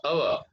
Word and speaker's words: hour: We are beginning the word with the sound of a, hour. So that's why we have to say an hour. H is not at all pronounced.